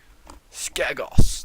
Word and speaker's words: Skagos: I'm gonna make sure I pronounce it correctly. Skagos, that's it. Skagos, the island of Skagos, apparently, which is an island full of cannibals.